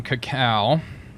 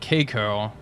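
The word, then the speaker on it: Kako: On Cacao, I believe that's how you say it. I've been pronouncing it Keiko, and apparently that is incorrect. It is not pronounced Keiko like in Star Trek.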